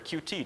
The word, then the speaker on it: Qt: Why didn't we use Qt or Qt, depending on how you like to pronounce it?